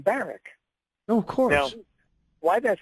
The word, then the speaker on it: Barack: And by the way, he he pronounced his name Baric.